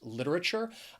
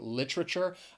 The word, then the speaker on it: literature: more accepted form of this word is with four syllables literature i i do catch myself from time to time saying literature i think sometimes when you're speaking just normally you tend to reduce words without even thinking about it so yes i sometimes say this with three syllables if you would like